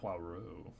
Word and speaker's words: Poirot: Like Pois and then Roux. Poirot. There you go. That sounded good.